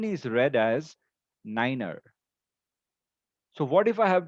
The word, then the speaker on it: niner: 7, 8, and then niner. 9 is the only number which we pronounce differently in order to avoid any confusion.